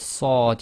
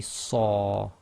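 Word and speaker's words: ص: So with sad you can't say sa, it must be saw, and with kha you cannot say kha, it must be kha.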